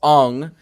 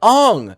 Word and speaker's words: Aang: been saying it right i think that's famously it's aung nicole nicola or katara it's like aung what are you doing